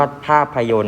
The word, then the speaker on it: ภาพยนตร์: ตัว หรือ คำ ว่า ภาพยนตร์ นะ ครับ จะ มี ต เต่า และ ร เรือ นะ ครับ เป็น ตัว การันต์ 2 ตัว นั่น เอง ครับ 2 ตัว นี้ จะ ไม่ ออก เสียง นะ ครับ เนื่อง จาก